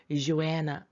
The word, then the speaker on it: Joanna: 영어 발음은 Joanna.